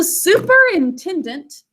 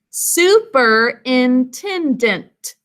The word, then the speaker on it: superintendent: Okay, boys and girls, so superintendent is our word. So we've got super as a prefix here, and then intendant. Can you sound out the word with me? Superintendent. 5 syllables.